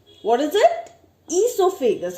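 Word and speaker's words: oesophagus: Then comes esophagus. What is it? Esophagus. Okay, O is silent.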